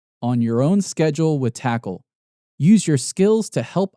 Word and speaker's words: TAKL: called tackle now for those not familiar with tackle it spelled takl not like how you would normally spell it but you know they had obviously they